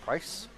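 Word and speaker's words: Prijs: thanks to hessel roscam it's just pronounced price there's just no j so but i'm not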